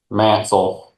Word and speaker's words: Mansell: Mansell, Okay, so almost like the Representative. E's and U almost. Okay, a good Southern pronunciation of Mansell.